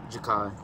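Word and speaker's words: Jakhi: Jakai.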